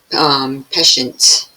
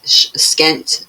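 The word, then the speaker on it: pschent: These were fastened to the Peshent. I'm saying it wrong again. Skent, if you say it like that, right?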